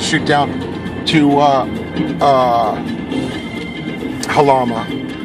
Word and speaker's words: Jalama: down to uh uh halama it's actually they spell it galama and California probably say it jalama just like that Passover